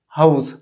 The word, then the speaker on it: house: এই যে হাউস কি করে হলো, HOU এটা হাউ, আর ই এর উচ্চারণটা হয় না, এটা এইটুকুনটা টেনে দিয়েছে হাউস, HOUS।